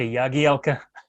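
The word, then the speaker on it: Jagielka: are not always used to hearing the authentic pronunciation uh it reminds me immediately of jagi alka yagi alka yeah that's right well again players don't i'm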